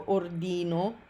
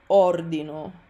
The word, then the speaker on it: ordino: So it's common that Americans or English speakers will want to say something like io ordino, but that's wrong. You want to say io ordino, and loro ordinano is an even funnier example of word stress.